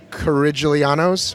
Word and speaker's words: Corigliano: Thanks for talking to both of the Coriglianos. Corigliano. Rhymes with? Absolutely nothing. Yeah, exactly. Play a piano.